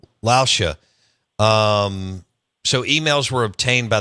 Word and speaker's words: Lauscha: And Dennis, how do you say his last name? Lauscha.